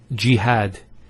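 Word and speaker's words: جهاد: Next word is jihad. So we have here g that's the first syllable and then had jihad. So you notice here we have a fata on the h followed by the al if and that gives the elongation of the a sound.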